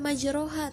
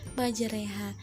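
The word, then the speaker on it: مجراها: cara membacanya itu Bismillahirohmanirohim ya ingat majreha karena memang seperti itu cara membacanya Jadi bukan majroha tapi majreha kita ulang yuk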